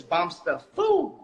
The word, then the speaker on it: Bomster_Foo: So the way to say my name is a different way you say it. So it's Bombster_Foo, like that. It goes up.